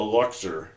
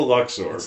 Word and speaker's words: Luxor: I'm like, "No, that's not how it's pronounced. It's the Luxor." Luxor. Luxor. Yeah, Luxer. Not Luxer. Lex Luthther versus Lex Luthor. Yeah, it's not Luxer. It's not a Luxer.